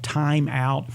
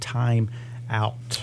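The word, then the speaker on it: Thyme Out: And then the cream to use is called Time Out. That is not spelled T-I-M-E. It's spelled like the herb, Time, T-H-Y-M-E.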